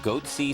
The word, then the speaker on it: Goatse: and they're getting the goatsy picture they're called goatsy security is that my pronouncing that correctly yeah that's right we're analyzing